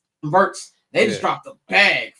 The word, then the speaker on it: Wirtz: Wirtz, how do you pronounce his last name? Wirtz.